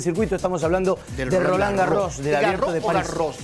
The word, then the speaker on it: Roland Garros: francés y le dije me imagino que es golán gago porque yo no pronuncia en la s final me dijo no es roland garros no habiendo una cosa